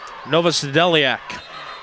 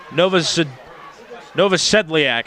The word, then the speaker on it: Novosedliak: Let me repronounce that name too. Ron Novosedliak, excuse me.